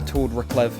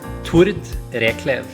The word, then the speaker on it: Tord: And am I pronouncing your name correctly there, Torv? Uh, well, it depends how technical you want to be, but it's T Rev.